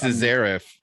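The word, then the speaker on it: szeryf: it's spelled in polish so it's uh the pronounced cesariff yeah exactly that's what it is yeah which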